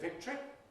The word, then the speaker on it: victory: Perhaps more widespread is victory, though I think I normally say victory.